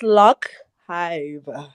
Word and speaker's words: LocHive: It's Lockhive, the DJ. Oh, so lock as in like dreadlocks.